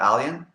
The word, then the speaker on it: Alyan: static and feedback um how do you say your name is it alien okay okay um can